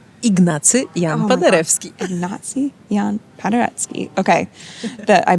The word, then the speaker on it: Ignacy Jan Paderewski: me if I'm saying it wrong, is it Jan Paderewski? Ignacy Jan Paderewski. Ignacy Jan Paderewski. Okay, I butchered it.